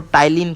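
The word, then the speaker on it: ptyalin: याद रखना है, इसको टाइलिन कहते हैं। टाइलिन की स्पेलिंग पी से स्टार्ट होती है ना, PTYLIN, है ना।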